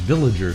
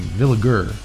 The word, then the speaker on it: Villiger: A lot of people mispronounce it as Villiger Cigars. I always do that. It's not. It's a name. It's a family name. Villiger. Hard G.